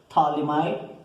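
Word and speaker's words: phthalimide: Here P is silent, thalamide.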